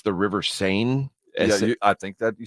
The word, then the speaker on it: Seine: I don't know how to pronounce it, which is part of why I dumped the story. I think it's the River Seine.